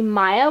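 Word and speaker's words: Maja: So her name is actually not going to stay Leah, her name is going to be Maya, which is spelled M-A-J-A, and I've liked that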